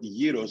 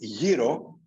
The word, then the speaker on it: gyro: an identifier for the same reasons the word heroes is very distinctive as identified for those of